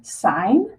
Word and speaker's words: sine: When you look at a calculator, your calculator will have buttons for these, and it'll just be abbreviated SIN, but we pronounce it sine, COS, which we say cosine, or TAN, which we pronounce as tangent.